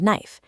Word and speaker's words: knife: Whenever K and N start a word, the K is silent. Look at knee and knife.